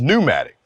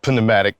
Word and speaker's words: pneumatic: inch pneumatic tires now i know it's pronounced pneumatic but i got a one-man boycott against silly spellings so i'm gonna say it the way it was spelled panomatic put it into just